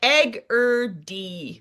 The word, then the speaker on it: Egerdie: Mine is I never know if it was a hard G or a soft G. So I'm happy to have Yeah. It's like egg d like chickity only eggier I guess.